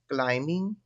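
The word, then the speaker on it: climbing: इसमें भी क्या साइलेंट है? बी जो है वह साइलेंट है।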